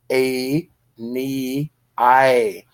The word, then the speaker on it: Aeneas: of æneas notice a every syllable of æneas is long a knee I so of Aeneas are